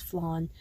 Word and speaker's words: flan: also showed uh flan yes it's spelled flan but it's flawn um for anyone who's